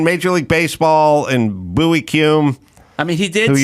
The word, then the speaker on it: Kuhn: Kuhn, Bowie. There you go. Kuhn. That's him. Bowie? Yeah, but he pronounced it Bowie.